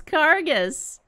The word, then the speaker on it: Cargus: Ah, it's Cargus! Like, arcade.